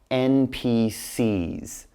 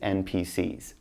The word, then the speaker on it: NPCs: are what we call NPCs that's just how you pronounce that you say n P C but then like plural so just NPCs don't say s now